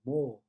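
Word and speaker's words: もう: E na verdade a gente pronuncia como se prolongando o o, mo.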